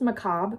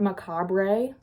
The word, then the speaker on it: macabre: They pronounced macabre wrong. It's pronounced macabre, not macabre.